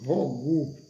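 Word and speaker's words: hygge: movimento da Dinamarca chamado pronuncia-se rogu mas se escreve h y g e os países nórdicos da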